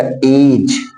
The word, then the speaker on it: edge: यहां पर देखिए EDGE है, तो डी के बाद क्या आया है? जी, तो हमारा डी साइलेंट हो जाएगा, तो बोला जाएगा एज।